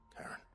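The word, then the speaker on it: Charon: Thank you, Karen. Bro, it's it's pronounced Karen, but looks like Shiron.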